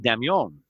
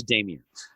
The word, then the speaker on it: Dameon: had an accent over the O so I pronounced it damn young Oh fancy schmancy right but nobody else pronounce